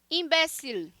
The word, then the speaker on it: imbécil: Imbécil. O L puxado, tá, gente? Imbécil.